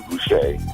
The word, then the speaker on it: Gouche: You know, my name is Gouché, and that's how you can find me. Spell it for them. Spell Gouché for them, because it's not spelled the way it may sound.